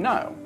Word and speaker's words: know: The unnecessary K before N, like in no.